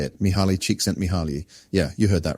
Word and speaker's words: Mihaly Csikszentmihalyi: The term flow was coined by a psychologist with a name so fancy I need a pronunciation guide just to say it. Mihaly Csikszentmihalyi.